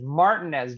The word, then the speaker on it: Martinez: i want to say martinez but it's probably not martinez georgia no but at least concacaf you can pronounce it phonetically that is while spelt martinez that is martin as georgia which is actually kind